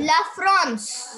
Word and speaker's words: La France: La France. La France. Very good. France. France. Yeah, La France. Okay. La France. La France. And the N is silent. No, not silent, but the nasal.